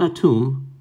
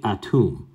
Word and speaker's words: Atum: himself for the first time and his name is atum and his name is actually pronounced tim not a tomb but tim right even though we say atum so i'll just put